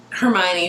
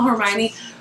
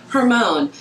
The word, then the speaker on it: Hermione: I wanted to and I used to call Hermione hermone and that's just what